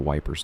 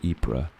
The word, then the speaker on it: Ypres: Let me tell you about the Wipers' Times. In 1916, British soldiers stationed near Ypres, which they cheerfully mispronounced as Wipers because correct French pronunciation is for people not actively being shot at, found an abandoned printing press in a bombed-out building.